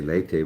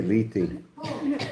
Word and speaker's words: Leyte: Lee or lei? Lee. Lee. So why did he say lei? The bang captain. He said lei. So I thought I was saying it wrong. Lee. That's how I always said it.